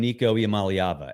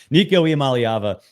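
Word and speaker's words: Nico Iamaleava: don't know what we're going to get from Nico malava and yes I am pronouncing it right because people who do that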